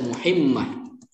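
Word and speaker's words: مهمة: Nah, ini tadi kebanyakan salah di sini bacanya. Harusnya ini baca muhimmah.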